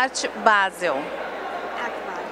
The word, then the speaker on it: Art Basel: beija o art basel na verdade a pronúncia é a art basel arte paseo que é do nome da cidade na suíça onde a feira começou